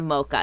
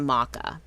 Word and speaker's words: mocha: So, um, my my new favorite thing to get was iced maca. And you have to say it like that. It's not a mocha, it's a maca.